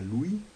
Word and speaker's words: Luis: Buñuel, que a propósito de nombres y significados en francés, Luis se pronuncia Louis, que quiere decir él.